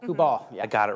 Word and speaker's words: Kubal: Is it Kubal? Kubal, yeah.